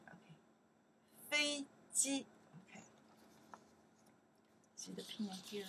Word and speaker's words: 飞机: This is ji, and together we pronounce ji, right? Fei ji, okay. Fei ji, okay.